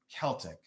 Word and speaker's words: Celtic: Yeah, Celtic for basketball, Celtic for culture.